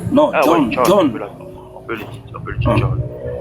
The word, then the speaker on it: John: Non, John. Non, Ah, John. ouais, John. On peut le dire, John. Non, c'est pas on peut le dire. C'est le mot, c'est le nom en anglais. John, c'est pas jeans.